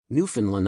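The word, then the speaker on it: Newfoundland: time at Ken Jennings New Finland rhymes with understand New Finland understand emphasis on land love the show you're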